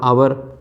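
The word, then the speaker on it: hour: प्रयोग किया जाता है एक आपके जिसमें एच साइलेंट रहता है एच ओ यू आर आवर एच ओ एन ओ यू are owner यह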